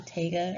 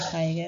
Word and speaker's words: taiga: It's also known as the taiga or taiga, however you want to pronounce it, and also the boreal forest.